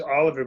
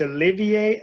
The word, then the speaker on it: Olivier: is it it Sally I thought it was Oliver but it's Olivier sis is that how you pronounce yeah Olivier I think it's I think